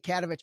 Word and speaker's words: Katovich: going to say Danaka Katovich, because I kept on pronouncing your last name wrong. Cat's like a cat, I guess. Danaka Katovich.